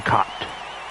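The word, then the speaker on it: Jim Kaat: I already have Jim Cott. It's not pronounced cat, it's Cott.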